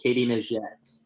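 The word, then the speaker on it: Katie Nageotte: Can you pronounce those ones for me, Chris? You nailed them earlier. So it's Renault Lavilani and Katie Najette.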